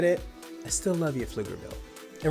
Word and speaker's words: Pflugerville: Pronounced Pflugerville. They like to put a P in front of, did I spit? P in front of everything, just so you know it.